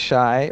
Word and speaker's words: Shai: yeah my name is Shai rhymes with tie in fact tie